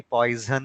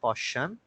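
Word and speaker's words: Poisson: Okay, then Gauss हो गए, then we do have Paschen, उनका do remember that कि poison नहीं है उनका pronunciation. Okay, उनका नाम है Paschen.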